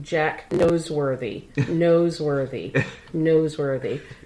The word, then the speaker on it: Noseworthy: Jack Noseworthy. Noseworthy. Noseworthy. Not noteworthy, it's Noseworthy.